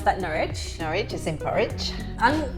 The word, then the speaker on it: Norwich: within Norfolk so as you've probably heard would pronounce that Norwich Norwich is in porridge I'm gonna guess the